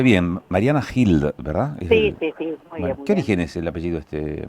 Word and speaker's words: Gild: Pronuncié bien, Mariana Hild, ¿verdad?